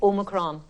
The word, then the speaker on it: omicron: tomato i say tomato it's omicron it's all with emphasis on the oh it's the 15th letter